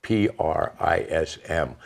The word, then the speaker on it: prism: That's spelled P-R-I-S-M. When I say that, a lot of people think I'm saying prison.